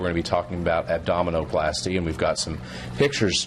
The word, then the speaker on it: abdominoplasty: All right, let's talk a little bit about tummy tuck, abdominoplasty. Tummy tuck a little bit more catchy. Yeah, abdominoplasty. Oh, I said it wrong. Yeah. Abdominoplasty, not abdominio. Yeah.